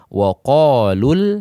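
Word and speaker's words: وقالوا: waqalul hamdulillah, ya, dibaca waqalul hamdulillah. Tapi ketika kita mewaqaf pada huruf mad, maka hurufnya tetap dibaca panjang atau madnya tetap berlaku. Contoh, ketika waqalu di waqaf di sana, maka bacanya waqalu.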